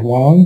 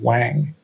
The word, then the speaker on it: Wang: let me say that i'll be pronouncing kent wong closer to the chinese pronunciation rather than the english or anglicized pronunciation of wang ken wong is a